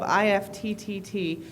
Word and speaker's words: IFTTT: We pronounce it IFT. We, of course, put 3 T's in the name, so it's okay.